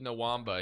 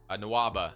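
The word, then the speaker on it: Nwaba: we could go david nawamba here nawaba david nawamba i always say this guy's name wrong because i wish try to put an m in it for whatever reason so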